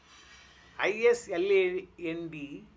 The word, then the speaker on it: island: I S L A N D. S is silent island.